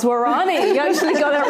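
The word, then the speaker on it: Waorani: Well, I loved how you pronounce Warani.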